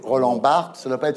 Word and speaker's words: Roland Barthes: Alors, vous êtes ministre de la Culture d'un président de la République qui prononce Roland Barthès au lieu de prononcer Roland Barthes.